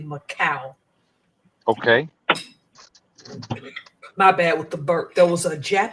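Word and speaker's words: Makah: M A K A H, but the H in their language has a W sound, so it's actually Macau.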